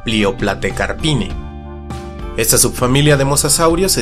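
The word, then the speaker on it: Plioplatecarpinae: El diptongo AE se pronuncia como E, la Pliopletecarpine.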